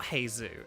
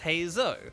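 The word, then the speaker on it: Heizou: But it's not Heizu, it's Heizo.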